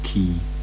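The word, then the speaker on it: Caius: yeah and that is Ka College pronounced key at Cambridge the light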